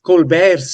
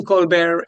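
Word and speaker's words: Colbert: Um CBS also cancelled Steven Col Steven Colbe Colbear's show. He doesn't like the T pronounced.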